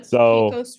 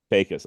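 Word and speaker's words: Pecos: that's okay but uh it's the posos river Pacos all right so then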